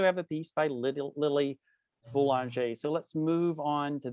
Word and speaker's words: Boulanger: my Francophone friend, Celeste, when I say Boulanger, that's what I have always said. Is that actually the correct pronunciation? Celeste? Celeste is letting me down. No. Sorry. I had to find my unmute button. I'm certainly not an expert, but I would say boulanger. Okay, that's much better.